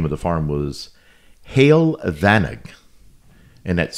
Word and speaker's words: Heol Fanog: but the actual name of the farm was hail vanice and that's spelled h e o l f a n